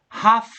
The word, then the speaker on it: half: hour half an hour remember the L is silent we don't pronounce that okay we don't say